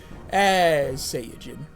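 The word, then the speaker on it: サイヤ人: Hey, because that's actually how you say it in Japanese. Saiyajin. That's why it's SSJ in a lot of stuff. Because of the way that Saiyan is pronounced in Japan.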